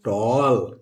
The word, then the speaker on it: tall: ए को प्रोनाउंस करेंगे, नहीं दोस्तों, क्योंकि इसके साथ इधर दो कॉन्सोनेंट आया हुआ है, इसलिए हम इसका प्रोनाउंसिएशन, ये कॉन्सोनेंट इसके बाद दो कॉन्सोनेंट आए हुए हैं, इसलिए हम इसका प्रोनाउंसिएशन आ के रूप में करेंगे। तो ये ट हो गया